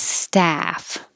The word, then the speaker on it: staff: uh stuff and 29 is staff ah open and the lips are straight ass staff 29 up